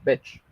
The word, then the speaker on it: bitch: Esa no se pronuncia igual, se pronuncia como bitch. ¿Ok? El sonido es mucho más corto que si dijéramos la palabra beach.